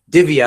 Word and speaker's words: Divya: no less and I'm going to attempt to pronounce your name right. Divya I believe is the pronunciation of your first name, right?